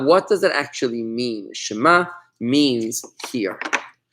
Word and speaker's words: Shema: with an M and the final letter here is the letter ayan which looks like a silent pair of eyes it's a silent letter looks like a silent